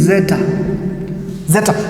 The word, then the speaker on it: zeta: That one is actually pronounced as ads, but when you go to the Greek, the way you are going to pronounce it in the Greek, it is zeta.